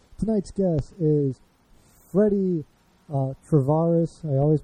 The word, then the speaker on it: Tavarish: tonight's guest is Freddy Tavarish. I always mispronounce that. I apologize. Hernandez. It's Tavarish, not Tavarish. That's like my weird Chicago accent coming out there.